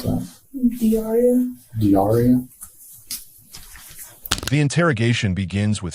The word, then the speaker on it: Dauria: How do you pronounce that? Diaria.